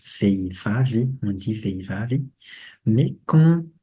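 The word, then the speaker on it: vehivavy: Et là aussi, le H, veivavi. On dit veivavi. Mais quand on le prononce rapidement, c'est vevavi. On, on avale le H et le I et on prononce tout avec vevavi.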